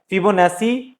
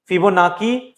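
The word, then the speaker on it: Fibonacci: उनके नाम पे है फिबोनाची, फिबोनाकी, फिबोनाची, अलग अलग प्रोनाउंसिएशन होता है इस चीज का, कहीं पे स, कहीं पे क, कभी च पढ़ते हैं इसको।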